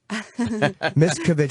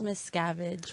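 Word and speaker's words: Miscavige: Miskovich, we're saying the name right. It's Miss Scavenge, but Miss Okay.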